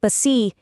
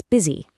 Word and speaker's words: busy: The letters U and E completely masquerade as a short it sound here in words like lettuce, busy, business, and minute. It is not let ooze, it's lettuce. It's not bi, it's busy.